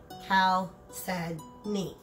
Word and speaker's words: chalcedony: Okay, now, just to make it clear, both of these are chalcedony, pronounced chalcedony.